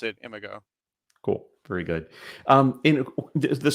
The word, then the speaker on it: Imago: I pronounce it IMAGO.